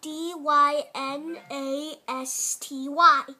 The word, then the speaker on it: dynasty: like this looks like d y n a s t y and it is pronounced die like someone's dying Miss like N US